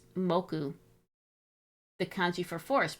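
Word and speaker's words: 木: The kanji for tree, pronounced moku.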